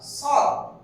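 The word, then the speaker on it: ص: তাহলে এইটা আমরা লিখলাম সদ। এই সদটা উচ্চারণ করে একটু দীর্ঘ করতে হবে, সদ সদ।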